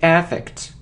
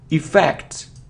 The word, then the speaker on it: effect: It isn't effect, or it isn't effect, it's effect, effect. The stress is on the second syllable, okay?